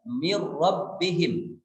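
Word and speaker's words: مِن رَّبِّهِمْ: tanpa disertai dengan guna sehingga membacanya mirrobbihim mirrobbihim kemana bunyi nun sukun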